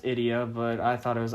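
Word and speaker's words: Ideya: Well, according to Journey of Dreams is pronounced Idia, but I thought it was idea up until I played a little bit of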